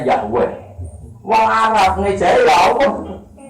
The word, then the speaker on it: Yahweh: Wong Yahudi menyembah itu tulisan kapitalnya Yahweh, Y dengan huruf kapital, A dengan huruf kapital, H dengan huruf kapital. W dengan huruf kapital, E dengan huruf kapital, H dengan bacanya Yahweh.